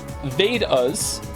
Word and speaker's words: Vedas: The Vedas, pronounced Vedas, and Upanishads, your pronunciation was quite close, are actually ancient Hindu texts.